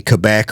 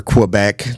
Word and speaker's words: Quebec: This is a passenger car, and it is called the Quebec, or Quebec, depending on your specific pronunciation of it.